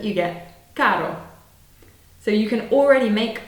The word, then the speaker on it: caro: It's exactly the same as in butter.